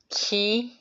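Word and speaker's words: 気: So, and then this pronunciation ki is for Japanese. So if you noted that it's as an ki, Reiki, that's reflecting the Japanese cultural essence. And if it's chi, that's the Chinese way of related to the martial art or culture wisdom.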